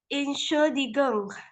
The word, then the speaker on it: Entschuldigung: Gimana cara baca yang ini? Wina, minta maaf. Entschuldigung.